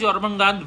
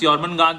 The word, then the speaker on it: Jormungandr: Jormungandr, a lot of people say Jormungandr, but the J is pronounced Y, like many of the East European languages and all.